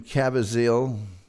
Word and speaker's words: Caviezel: Each 40-minute audio drama includes a Hollywood celebrity in the starring role, and they include Jim Caviezel, that's how you pronounce his name, Blair Underwood, Jason Alexander, Jane Seymour, Lou Diamond Phillips, Luke Perry, Michael York, Sean Astin, and Ernie Hudson.